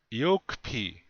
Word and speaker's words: yokpi: pee very good and you can hear that the accent is on the second syllable every time i say